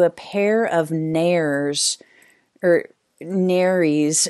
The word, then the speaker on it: nares: pair of nares or narys rhymes with caries i just learned something i've been pronouncing that wrong on the top of her snout so narys after she passes galena